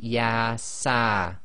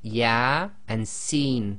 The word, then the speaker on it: Yasin: So here you cannot say Yasa, it would be Ya and Sin, so that's both the letters, the name of the actual alphabet letters themselves.